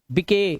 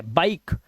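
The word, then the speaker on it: bike: अब इसे गिवे नहीं पढ़ने, गिवे, गिव, मके नहीं, मेक, बिके गलत है, बाइक। इसे राइस या रिसे नहीं पढ़ना है, क्योंकि लास्ट का ई साइलेंट है।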